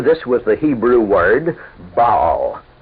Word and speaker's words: Baal: was the Hebrew word Baal in English spelled b-a-a-l and usually pronounced Baal it means master or